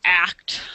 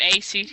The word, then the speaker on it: ACT: um a therapy called act I keep calling it a CT and that's not actually how you're supposed to pronounce it it's supposed to be pronounced act um I had a